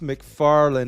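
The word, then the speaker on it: McFarlane: you got to remember it's pronounced McFarland not raita like say it with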